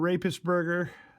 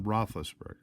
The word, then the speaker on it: Roethlisberger: got Theismann Big Bend rapist burger I'm sorry I think I mispronounced that it's Ben Roethlisberger well I'm not sure